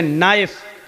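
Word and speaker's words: knife: लेकिन उपलाइन बोला नहीं जाएगा जैसे इंग्लिश में नाइफ इसको कहते चाकू को ए नाइस की मानक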